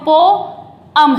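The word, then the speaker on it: poem: Common सी बात है, सभी इसको पोयम बोलते हैं, लेकिन पोयम का जो प्रोनाउंसिएशन है वो पोयम नहीं है, वो पोअम है।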